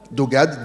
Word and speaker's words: Dogad: Dogade Dog AD deux syllabes 5 lettres.